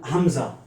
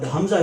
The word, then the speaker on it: hamza: z a h hamza it is also a light letter so it can be pronounced easily it is very similar uh with the first part of the letter i in if you see the